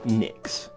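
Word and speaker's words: Nyx: all over the city the one with the Knicks logo oh so that's how it's pronounced I just like the logos design the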